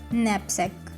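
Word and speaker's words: knapsack: पास तीसरा वर्ड है नेप सेक नेपक के यहां पर साइलेंट है हम के प्रोनाउंस नहीं करेंगे नेप सेक सामान रखने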